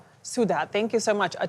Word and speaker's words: Sudha: Sudha, thank you so much.